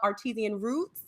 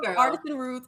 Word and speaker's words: Artisan Roots: also the owner of artesian roots so if you want to tell us about your roots artisan roots and i knew i was saying it wrong so artist son okay yes and talk